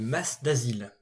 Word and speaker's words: Mas d'Azil: Nous sommes donc dans le village du Mas d'Asile. Oui, j'ai bien fait attention à la prononciation.